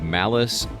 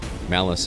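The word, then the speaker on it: Malus: So we go in there, and the doctor is this character by the name of Malice Thorm. Malice is spelled M-A-L-U-S.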